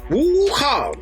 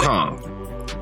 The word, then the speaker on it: Wukong: Wukong. Yeah, you got Wukong.